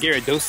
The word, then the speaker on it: Gyarados: I think it's pronounced Gyarados.